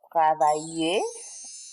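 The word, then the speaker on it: travaillé: Travailler, okay, will be travailler avec l'accent aigu à la fin. La prononciation, c'est la même chose. The pronunciation is the same.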